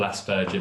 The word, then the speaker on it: Asperger: But Americans tend to call it Aspergers, as in burger made out of an ass. Asperger. The British English pronunciation is more Aspergers with a softer G.